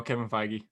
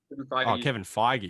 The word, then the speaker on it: Kevin Feige: name properly kevin fiji what jeff globe no kevin feige kevin feige yeah yeah we pronounced his name alone if you guys didn't